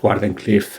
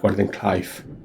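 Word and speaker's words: Wardenclyffe: So, it is pronounced Gen Cliffe and not Gordon Clive.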